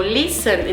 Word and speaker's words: listen: O listen, ninguém fala esse T.